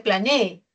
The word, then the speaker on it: planee: Y el acento está en la última sílaba, ¿no? Acá no dice usted planee. Una cosa sería usted planee y otra cosa yo planeé.